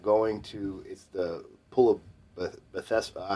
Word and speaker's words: Bethesda: It's incredibly powerful about going to the pool of Bethesda.